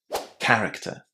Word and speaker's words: character: The word character comes from Greek, and as such we're going to be pronouncing CH as K, character.